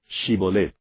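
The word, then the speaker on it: Shibboleth: Shibolet fue una palabra difícil de pronunciar para estos efraimitas. No podían pronunciarla con la H.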